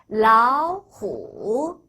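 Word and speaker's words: 老虎: 그래서 라후 한 번 더 라후 삼성과 삼성이 만났을 때는 하기 힘들어요. 그래서 앞에 삼성을 이성으로 올려서 발음만 합니다. 발음만 올리고 표기는 변하지 않아요. 그래서 라오후 이렇게 따로따로 읽지 않고 붙여서 라오후 다시 한번 라오 이성으로 올려요.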